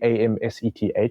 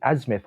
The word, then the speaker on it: Amseth: It's literally Amseth, like Amseth, but like people who have these weird pronunciations with it. And one of these guys called me Asmeth one time, and I was like, cool, that's my troll name now.